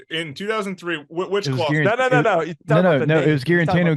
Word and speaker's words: Guarantano: it here so in 2003 no it was guarantino guarantano which one was first which one was last